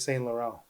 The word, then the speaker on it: Saint Laurent: spelled Laurent, but that's not how they say it. It's Saint Laurent.